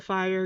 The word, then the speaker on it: Fyre: And so Alba Fire, Yoga Fire, I'm hoping it's not actually fire, that maybe it's, I don't know, it's Fyre. It's pronounced fire, I'm sure of it.